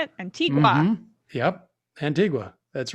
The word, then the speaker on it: Antigua: antigua antigua is that how you say it antigua yep antigua that's right antifa how'd you get